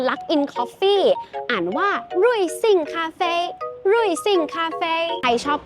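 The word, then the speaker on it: 瑞幸咖啡: คะ ก็ คือ Luck in Coffee อ่าน ว่า รุย ซิ่ง คาเฟ รุย ซิ่ง คาเฟ ใคร ชอบ ข้าว อาหาร จาน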